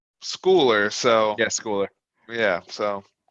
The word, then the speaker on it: Schooler: it's uh it's pronounced schooler i got yeah it's weird because at the game if you're at this game they say schuler yep but it's schooler so yes cooler yeah so i don't mind